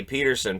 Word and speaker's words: Pettersson: I don't, because, yeah, every time I would say Peterson, people would try to correct me as if Pettersson himself hadn't wanted it pronounced that way.